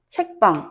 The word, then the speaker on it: 책방: 기억을 해 주시면 되겠습니다 그리고 책방 책빵 마찬가지로 책빵 요렇게 발음이 되죠 어 나는 빵을 굽지